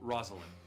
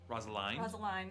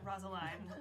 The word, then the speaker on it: Rosaline: Alva, a beautiful half-orc, burly woman, and also Rosalind. Rosaline. Sorry, fuck. Think beginning of Romeo and Juliet. Rosaline.